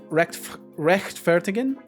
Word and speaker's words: rechtfertigen: The CH. So fricative, try to hiss like a cat. Oh, so it's right. So it'd be rechtfertigen, like that.